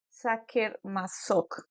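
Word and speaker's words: Sacher-Masoch: un señor de apellido saker masok creo que se pronuncia Así es un poquito difícil de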